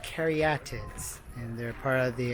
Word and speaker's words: caryatids: So, they're pronounced caryatids and they're part of the Erechtheion.